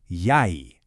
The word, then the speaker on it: jeg: For I, we say jeg. Sounds like yai.